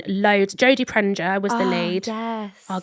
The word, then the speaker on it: Prenger: How do you say it? Prenger. Prenger. Yeah.